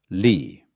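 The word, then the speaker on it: 理: And it's pronounced lee.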